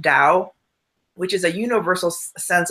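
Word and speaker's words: Tao: call the Dow this.ta oh it's pronounced Dow which is a universal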